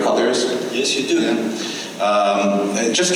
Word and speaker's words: Colliers: Am I pronouncing that correctly, Colliers?